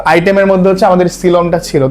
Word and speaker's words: coelom: এটা অ্যাকচুয়ালি উচ্চারণ হচ্ছে সিলম।